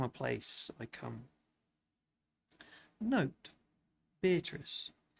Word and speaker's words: Beatrice: Note, Beatrice. I use this word as it is pronounced in the Italian, as consisting of 4 syllables, of which the third is a long one.